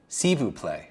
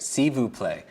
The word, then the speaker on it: s'il vous plaît: S'il vous plaît. For me, that sounds like a word substitution for s'il vous plaît would be a silver plate. So just attach silver plate with please, right?